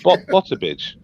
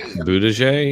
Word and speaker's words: Buttigieg: He's Bottabidge. Oh, Bottabidge. the most mispronounced name ever in history. Buttigieg, you mean?